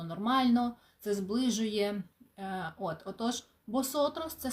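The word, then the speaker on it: vosotros: носотрас перекладаємо як ми босотрос буква В на початку слів читається як б але коли ми говоримо На початку слів мається на увазі що там паузи до цього є босотрос - це ви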